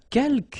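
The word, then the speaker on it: quelques: Uh keelk you don't pronounce the final s here.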